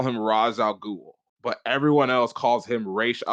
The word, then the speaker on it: Ra's al Ghul: Because I think his pronunciation got, but I don't want to say it was butchered, but they changed the pronunciation to Arrow because in the Arrow they call him Raz, and I'm like, really?